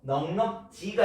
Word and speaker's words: 넉넉지: 줄일 때 하가 전체적으로 탈락해서 넉넉지가 됩니다. 그러니까 요즘 가은이는 시간이 넉넉치 않다. 이게 자연스럽잖아요. 요즘 가은이는 바빠서 시간이 넉넉치 않다. 놀 시간이 넉넉치 않다 했는데 이거 틀린 발음입니다. 가은이 요즘에 놀 시간이 넉넉지 않다.